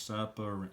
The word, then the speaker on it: separate: can hear the syllables, separate. So I know there's going to be 3 syllables, but let's see the split. So if I had the split here, so I'm going to have sep, rate.